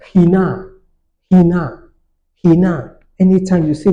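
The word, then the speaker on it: ἵνα: But if what you have a word has a rough breathing mark, then we need to take note. So we have a word like this, hina, hina. Did you notice how I pronounce it? He. So your breathing mark, rough breathing mark, makes you pronounce this word as if you are starting with H.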